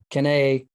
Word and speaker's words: Cannae: Cannae is the pronunciation. So we're going to use that. Because I've heard Cannae, can we?